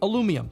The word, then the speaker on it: aluminum: today still arguing about what's the correct pronunciation when really i think the og is pretty much correct aluminum let's bring that back